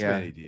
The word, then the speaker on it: Manny Diaz: Yeah, it's Manny Diaz.